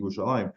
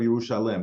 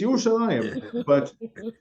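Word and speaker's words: ירושלים: because of the orthography, there's no yud, there's no second yud in the word Yerushalayim as it's written, but you still pronounce it Yerushalayim. They always say the wrong thing. Dabru alev Yerushalayim. No, it's Yerushalayim.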